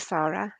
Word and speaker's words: Sara: about the National Archives okay my name is Sara uh and thank you for pronouncing it properly it's often mispronounced um I